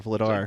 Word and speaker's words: Vladar: vlad vlad r or vladar dude no one's pronouncing that dude when your name is dan and it's like vader but with an l in that dude everybody's calling